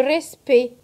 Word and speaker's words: respect: Le C muet à la fin de ces mots, comme par exemple le respect. Le C ne se prononce pas.